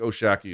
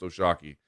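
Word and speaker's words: O'Shaquie: is oshaki Foster as I mentioned looks like oh shaky it's pronounced oshaki Foster is a very quiet guy very very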